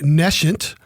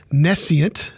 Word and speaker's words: nescient: But we want to help you here not be so nescient or nescient, pronounced both ways.